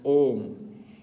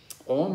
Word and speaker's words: om: pranayama it says chanting the three syllables combined as om three syllables a u m um which i thought it was a one-syllable mentor seriously three syllables om is really a one syllable mantra but they put three